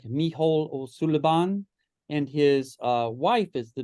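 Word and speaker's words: Mícheál Ó Súilleabháin: Music and Dance, and that's pronounced something like Micheál O'Sullivan, and his wife is the director now.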